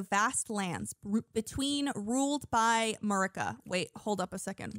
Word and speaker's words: Marika: lands are ruled by queen marica marika i apologize girl i got your name wrong with your various